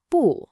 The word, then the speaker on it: 不: When bu, which is normally a fourth tone, comes right before another fourth tone syllable, it actually changes its own tone. It becomes a second tone, a rising tone.